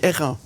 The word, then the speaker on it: airain: J'ai bien fait attention de prononcer juste. On dit airain. C'est tout juste, ouais, race d'airain.